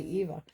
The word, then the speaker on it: Eva: So, in this drawing, we have um Barb Eva. I hope I'm pronouncing that right. I was thinking I was saying Ava, but it's actually Eva.